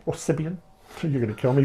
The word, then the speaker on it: Siobhan: And Siobhan, did I pronounce that right? Siobhan? Yeah, you did, yeah. Or Sibian?